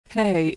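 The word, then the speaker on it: הא: Hey, is pronounced like the H in hello. Like H in English, it's silent at the end of words.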